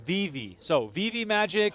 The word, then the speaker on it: VeVe: immediately by the chat omegatron is saying it's pronounced Viv so VI magic how did you say it I said Viv magic Viv sounds more I would have said